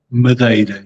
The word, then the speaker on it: Madeira: EI, like Leiria or Aveiro or Madeira. EI, is that the right way to say that? Madeira, yes.